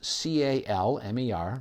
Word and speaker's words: Calmer: kamar canine website is CA LM er like the word kamar i don't pronounce the L because I was raised by parents who grew up in in the New England and they don't say